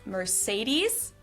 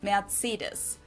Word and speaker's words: Mercedes: Um, so most Americans call this Mercedes in German. We pronounce it matus.